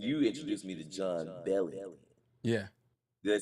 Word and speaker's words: Bellion: Um, and you introduced me to John Bellion.